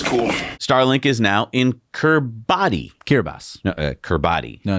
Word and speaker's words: Kiribati: Starlink is now in Kiribati. No, Kiribati. no, it's pronounced Kiribati. That's fun. The T is pronounced with an S?